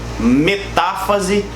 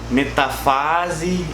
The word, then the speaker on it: metáfase: Só para esclarecer um negócio legal, todas essas palavras elas possuem um acento, tá? Prófase, metáfase, anáfase e telófase. Então, cuidado na hora de você pronunciar isso, porque a gente tem muito aluno que fala metafase, interfase, profase, tá bom? Tem um acento aí, beleza?